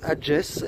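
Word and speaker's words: Agés: Et donc je quitte le village d'Adjes et non pas d'Ares, parce que c'est avec un G que ça s'écrit. Donc Adjes, et il me reste encore 2,5 km avant d'arriver à Atapuerca.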